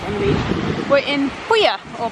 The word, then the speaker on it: Puglia: We're in Puglia, or Puglia as us British people pronounce it.